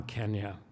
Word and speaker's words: Kenya: born and brought up in Nairobi Kenya we pronounced it Kenya in those days it's now Kenya um I was born and brought up in